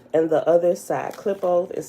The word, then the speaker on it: Qlippoth: right to it tablet queue book of the clip oath and the other side clip-off is spelled q-l-i-p-p-o-t-h the close of the year